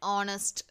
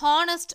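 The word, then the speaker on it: honest: First பாருங்கள் அண்ட் ஆனஸ்ட். ஸோ இதில் ஹானஸ்ட் அப்படின்னு சொல்ல மாட்டோம், ஆனஸ்ட் அப்படின்ற ஆன்ற உயிர் எழுத்தோட சவுண்ட் வரத்தால் ஆன் போடணும். அதே மாதிரி அடுத்து அண்ட் ஆர்.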